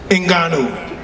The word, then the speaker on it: Ngannou: Ngannou.